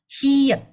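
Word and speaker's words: ㅎ: Ini juga sama, kalau misal dia posisinya di akhir, dia jadi T. Kalau posisinya di awal ya bacanya H. Tapi teman-teman yang baru pertama kali belajar, cukup hafalin kalau ini H aja.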